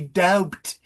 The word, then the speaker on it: doubt: So please drop the B. It's perfectly okay not to use the B. If you use the B, say doubt.